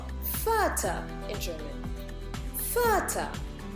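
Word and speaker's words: Vater: further further is called further in children further it is written with the V and the V is pronounced like an F further dare further okay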